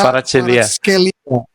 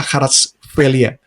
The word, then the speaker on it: Kvaratskhelia: Visha how do we pronounce his name? Visha Kvaratskhelia. Visha Kvaratskhelia. So Kvaratskhelia.